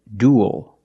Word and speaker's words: duel: The first word is duel. Duel. We see UEL making the same sound as before, like pool and cool. Duel. And it ends with a dark L, because the L is